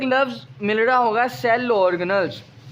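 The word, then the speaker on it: organelle: लेकिन असल में ये लफ्ज़ है ऑर्गेनल। कौन सा लफ्ज़ है ये? ऑर्गेनल। तो ये आप गूगल से भी कंसल्ट कर सकते हैं। गूगल पे जो इसकी प्रोनाउंसिएशन है वो यही है, ऑर्गेनल्स। ऑर्गेनेली इसकी प्रोनाउंसिएशन नहीं है बच्चे।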